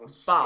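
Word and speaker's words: Bou: Oh, it's another man, but Bo, isn't it? All right, how do you pronounce his name? Is it Bo or Bao? Because I know he's very good. Like, he does a lot. Bao.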